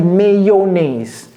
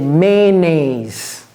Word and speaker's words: mayonnaise: c'est M m mayaise j'ai pas dit mayonnaise c'est maynaise maise un moi deux syllabes mais mais je voulais